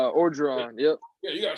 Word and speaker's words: Orgeron: Orgeron, yep.